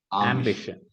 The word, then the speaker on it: ambition: ambitious not ambition ambition ambition ambition yeah you can make the a slightly this thing don't make it as ah make it as a ambition ambition yeah ambition over